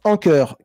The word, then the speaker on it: Anker: une petite rétribution voilà Anker se prononce anur car il nous faut il